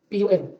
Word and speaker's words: pun: Pan, para sa English. O sa Tagalog. Pero pan po yun din, no? Pag yun yung ika na ay ipopronounce, no? Pan. Pero originally, pun, no? Sa pinanggalingan nitong salita.